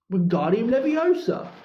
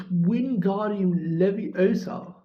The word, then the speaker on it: Wingardium Leviosa: Wingardium Leviosa, he shouted, waving his arms like a windmill. You're saying it wrong, Harry heard Hermione snap. It's Wingardium Leviosa. Make the guard nice and long.